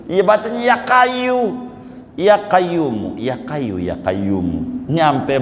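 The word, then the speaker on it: قيوم: aja yang bacanya Salah bisa nyampai ke Makkah bacanya Salah ya kayuku yaayumu yaayuku ya yau ya qayumu ya yaay qayumu ya kayu I bat ya kayu ya qayyumu ya kayu ya Qayyum nyampai Makkah yakin padahal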